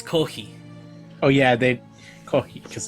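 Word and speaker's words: コーヒー: It's kohi. Oh yeah, they coffee because they don't pronounce that.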